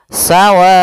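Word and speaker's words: سواء: Maka sawaun maka di sini panjang wa adalah empat harakat maka kita panjangkan dulu wnya sepanjang empat harakat baru dibaca onnya.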